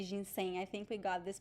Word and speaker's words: ginseng: is an interesting one there is the g at the end but we don't say jin sengi as far as i know we usually say jin saying i think we got